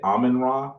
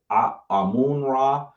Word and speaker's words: Amen Ra: You can say Amen Ra. You can say Amun Ra. Please don't get caught up on how it's said.